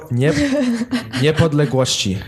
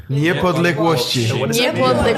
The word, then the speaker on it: Niepodległości: Niepodległości. Oh my gosh. Niepodległości. Polish words are so Aaron long. got it right. Wait, say it Nie again. palegoci? Niepodległości. Niepodległości.